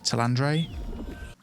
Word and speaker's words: Tandre: How do you say it? Tandre or Tandra? Tandre.